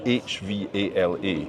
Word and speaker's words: hvala: And it's written H V A L A. Exactly. And we pronounce that H then Okay.